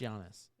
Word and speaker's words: Giannis: plays for the Clippers jannis jannis Giannis Giannis look there's a g yeah but it's pronounced Giannis that's a y now you're just [